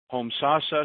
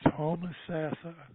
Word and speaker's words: Homosassa: our next caller and I I can actually pronounce this home sasa Springs Florida 352 come on down that's homosassa well at least at least it's not wacky